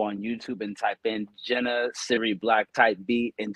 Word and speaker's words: JNA: But also have our guest in studio, Jenna. It's spelled JNA. It's actually the initials of her own kids.